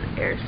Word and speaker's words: Eyre: check out this is air Square I believe it's called pronounced like Jane Eyre or spelled like Jane Eyre it's really nice lovely